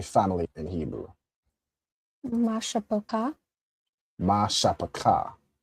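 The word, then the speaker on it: מִשְׁפָּחָה: Mashapaka.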